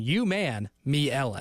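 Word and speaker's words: Umanmielen: It's Ellen DeGeneres explaining to an alien that it's a man and she is Ellen. You man me Ellen. Thank you. There you go. That's my my brain teaching me how to phonetically say his name.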